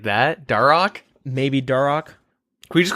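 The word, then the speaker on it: Dharok: Oh, on a side note, could you guys please stop pronouncing the H in Deagin? A piece of me dies every time. Darok. Like that? Darok?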